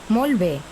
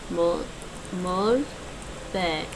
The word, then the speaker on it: Molt bé: Molt bé. I didn't say the T. Molt bé.